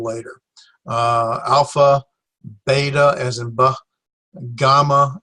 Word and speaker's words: gamma: alpha beta as in gamma as in got it's a hard G sound like him gift Delta